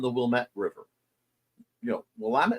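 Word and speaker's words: Willamette: wmet river you know wamt and wilmet wamt is out west wilmet is in Chicago and you do not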